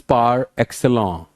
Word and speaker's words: par excellence: Disparity जहां बराबरी ना हो, यानी excellence के बराबर performance थी तुम्हारी, फ्रेंच है, प्रोनाउंसिएशन इज पार एक्सेलेंट.